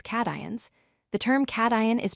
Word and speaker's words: cation: The term cation is pronounced cation.